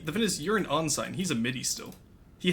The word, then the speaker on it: ensign: No, Tuzak is an on sign right now. My older brother is a midi. On-sign. Yes, that's how it's Okay, I've always pronounced. heard it pronounced ensign.